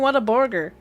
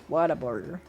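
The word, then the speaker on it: Whataburger: And it's like, "Well, if you're from Texas, that's how you say it." What a burger. Water burger. It's what a burger, but it's the way I think we say is water. It sounds like water burger.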